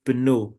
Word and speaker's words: pneu: The first word is pino. Pino means tire. And we pronounce both letters p and n.